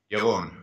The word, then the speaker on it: Yaron: Yaron.